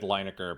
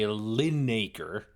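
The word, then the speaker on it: Lineker: Yeah, Gary Liner sucker is much better than this I I have always said lucker because I never bother to check how it's pronounced. There is no Gary Linaker.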